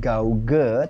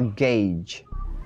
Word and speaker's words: gauge: oke yang berikutnya gauge Jadi bukan gauge Tapi bacanya gauge atau tdscc board artinya meteran